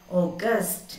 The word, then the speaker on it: august: Here is the stress. J. August. Gust is the stressed syllable here. August. August. What do you mean by August? And you know the August. And August, the month, August. But that is August. August. O. O is the stressed syllable here. August. But here, gust.